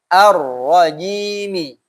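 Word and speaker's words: الرجيم: Yang huruf jim yang masih ji harus diperbaiki. Tidak ada huruf jim yang keluar nafas. Semuanya harus ditahan. Ya. Cara bacanya, cara biar tidak keluar nafas bagaimana? Tengah lidah tempelkan ke atas.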